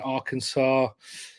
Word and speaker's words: Arkansas: Scotland Uh Kevin in Arkansas um I think I said that right I'm from England uh it's got an S at the end doesn't it but it's not doesn't you don't pronounce that s um right uh we